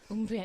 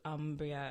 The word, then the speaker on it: Umbria: Umbria, yeah. The Italian pronunciation with that hard ooh as opposed to Umbria as it might look.